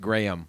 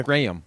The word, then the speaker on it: Graham: say Graham American and pronounced Graham like gray am Graham Graham but what